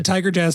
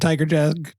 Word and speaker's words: Tygarjas: at this guy named Tiger Jazz Twirl's big stick. Tiger Jazz spelled, of course. Tiger Jazz is spelled TYGARJAS. Tiger Jazz.